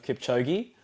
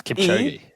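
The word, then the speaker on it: Kipchoge: Ren your pronunciation of Kipchigi. It's Kipogi.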